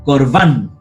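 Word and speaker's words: קָרְבָּן: importante que lo sepan, todas las palabras hebreas están acentuadas en la última sílaba, excepto que lo diga y iría en la penúltima. ¿Ya? Pero todas las palabras van acentuadas del hebreo. Entonces dice Corban, ¿ya?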